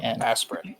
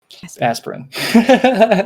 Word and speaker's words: Asperran: spell that yep um tales of a-s-p-e-r-r-a-n aspirin got it aspirin so thank you mike